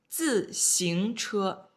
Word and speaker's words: 自行车: Next one, 自行车, 自行车. Let me type the pronunciation here. 自, fourth tone, 自行. Second tone, 自行车, bicycle.